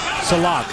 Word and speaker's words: Sillakh: You know, you look at the name Sillakh. It's spelled S-I-L-L-A-K-H, almost like silk.